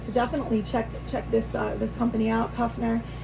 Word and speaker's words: Kufner: check this company out, Kufner. I'm saying that correctly, right? Yep. It's a new company, so I want to make sure I say it right. But Kufner Yachts USA.